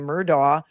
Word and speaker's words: Murdaugh: All in caps is yelling at me and says the way they say his name Murdo is the way it's pronounced.